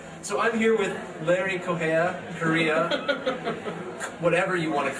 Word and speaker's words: Correia: My last name is actually pronounced much differently where it comes from. It's Portuguese, but when I hit Ellis Island, my grandpa was like, it's Correia.